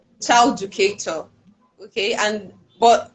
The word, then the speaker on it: Childucator: Most people would say child educator. I'm like, no, it's not child educator. It's child educator. Like there's no edu in it.